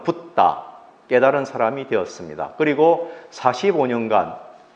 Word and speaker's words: 붓다: 35세에 부처, 한자로는 불타, 우리는 부처라고 본래 발음은 붓다, 깨달은 사람이 되었습니다.